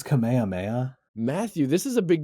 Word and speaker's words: Kamehameha: Uh it's technically pronounced Kamehameha.